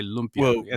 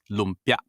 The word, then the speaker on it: lumpia: say l l l you cut off the A's like every time you hear an elongated elongated sound in the word that's wrong you have to cut every vowel short lpia it's never lpia lpia it's never that